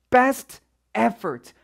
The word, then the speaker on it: best effort: best effort 배와 에만 강세를 주려다 보니까 중간에 들어가는 이런 T 발음 best의 T 발음 이런 데는 힘을 우리가 줄 수가 없는 거예요. 배와 에에 힘을 줘야 되니까 그러다 보니까 best effort라고 t 부분에 이렇게 뭔가 우리가 강조를 주지 않고 best effort 이런 식으로 이 t가 다음 소리에